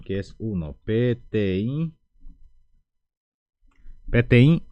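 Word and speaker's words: peteĩ: para que puedan ver pti es 1 la pronuncia es pti uno número dos vamos a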